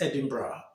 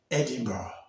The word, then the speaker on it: Edinburgh: a place called Edinburgh you know the actual pronunciation is Edinburgh but you know if you look at it in writing you see it as Edinburgh here was Edinburgh and Edinburgh is actually the